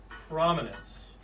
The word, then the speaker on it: prominence: word it's actually pronounced prominence yeah so the emphasis is on the first syllable and class what does